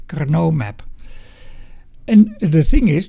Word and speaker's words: Karnaugh: carau map so this I have to say this this is a Carno I think you have to pronounce it like this Kau map and the thing